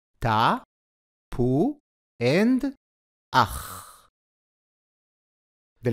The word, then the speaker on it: תפוח: A vav with a dot in its stomach is called shuruk and makes the u sound. Together they make the second syllable, pu.